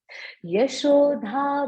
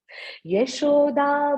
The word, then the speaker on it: यशोदा: आगे है यशोधा भयो लोक। देखो प्रोनाउंसिएशन बड़ा क्लियर होना चाहिए। यशोदा भयो लोक लाघवमानम।